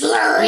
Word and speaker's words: Lurie: My name is Lurie. Lurie. It's like Larry, but it's spelled with a U.